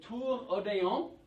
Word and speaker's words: Tour Odéon: So before the Tour Odéon. So like I said that? That's how you say it.